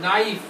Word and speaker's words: knife: के में अब ये देखिए, ये क्या वर्ड है, KNIFE, नाइफ। अब इसमें के जो होता है ना वो साइलेंट होता है, साइलेंट मतलब इसकी आवाज नहीं आ रही, नाइफ।